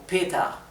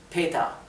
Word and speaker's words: Peter: ya les expliqué antes la r final en inglés en alemán Perdón casi es imperceptible como sonido de r suena más como una a por eso Pet Peter pronuncia más bien como Peta Peta y la r es casi imperceptible Peta así como lo